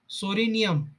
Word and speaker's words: Psoriasis: Example, psoriasis, itching eruption of psora. Psoriasis word is a P silent, start from the S word.